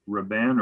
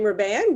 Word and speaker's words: Robin: start yes yeah so my name is robin well pronounced i live at 395 riverside drive which is at 112.